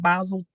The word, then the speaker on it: Basel: um now let's first understand Basel 3 or basil 3 and basil 4 I've heard it said pronounced both ways they are international regulatory